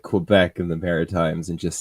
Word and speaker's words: Quebec: Like, and that like a couple of Quebec regions, and they haven't even. I know the French hate that W in Quebec. Yeah. How are you supposed to say it properly? Quebec.